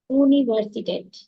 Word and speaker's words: Universität: Universität.